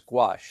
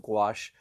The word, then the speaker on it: gouache: a sketch and also I'm going to use gouache so this is here's my gouache tray that's house wash is spelled for those of you who are trying